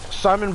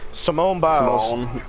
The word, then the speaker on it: Simone Biles: Simone Biles. Oh, I'm sorry. I did not mean to mispronounce her name like that. I said Simon too. Simone Biles.